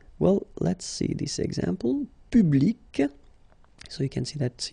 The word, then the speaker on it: public: and then put q but then phonetically if you pronounce it you you pronounce it exactly the same way okay so let's see